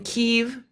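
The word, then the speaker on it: Kyiv: me and my friend Yvonne my friend in Kiev Keith did I say it right that's correct I'm truly trying my pronunciation I already got corrected once today needs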